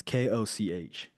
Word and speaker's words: Koch: It's Koch. Okay. Now Coke.